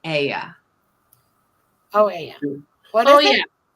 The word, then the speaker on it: Oia: It's pronounced it with an E, that the OI sound in Greek is an E.